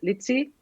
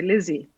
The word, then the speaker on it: Litzy: I got really fed up because my regular name is Litzy, and but people would always mispronounce that. They would always say Lizzie, which is a horrible name.